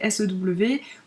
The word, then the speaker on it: sew: ce mot, parce que ça s'écrit S-E-W. En anglais, E-W, ça a tendance à faire ou you, comme dans new par exemple, qui s'écrit aussi N-E-W. Et donc les gens sont un peu genre, mais comment ça se dit? Je sais pas trop. Et en fait, ça se dit sew.